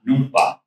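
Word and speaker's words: núŋpa: So number 2 is pronounced Numpa. Numpa is number 2.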